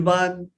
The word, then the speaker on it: Bann: वो लिखाई देखते हैं, because the spelling is BANN, तो बैन बोल उसको या देते। तो बैन बोलते हैं या बन बोलते हैं। सो आई जस्ट वांट टू हाँ, make it very clear that it's बान, इट्स इट इज नीदर